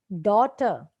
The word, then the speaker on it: daughter: Daughter, GH. Return. Now see this word here. We are actually pronouncing each sound of the alphabet here.